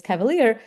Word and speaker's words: CVLR: And so for example here this CVLR uh which we pronounce as Cavalere uh CVLR assert uh